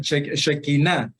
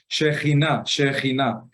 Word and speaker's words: Shekinah: La Shekinah, sí, yo sé que muchos pronuncian Shekinah, no, se pronuncia, disculpen ustedes que no pronuncio muy bien ahorita, Shekinah.